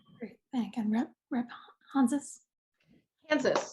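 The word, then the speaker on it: Hanzas: Kansas, rhymes with Kansas.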